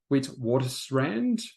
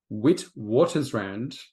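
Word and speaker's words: Witwatersrand: Jeff studied at the University of Witwater Strand. Sorry, Jeff, I know I butchered that. I really did. Wit waters rand in South Africa and then read law at Oxford University in England, no less.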